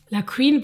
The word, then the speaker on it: La Q'Win: Je m'appelle Winner, la Queen pour mes fanatiques. La Queen s'écrit L-A espace Q apostrophe W-I-N. La Queen.